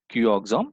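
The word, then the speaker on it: Cuoxam: as a qom CUO X XM it is pronounced as a q oxom reagent qom means uh ammonical Solutions of copper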